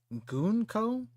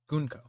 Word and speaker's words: Gunko: Her name is pronounced as Gonko, but a short goon, not a long goon. Like, okay. So gun gunko gunko not gunco but short goonko goonko.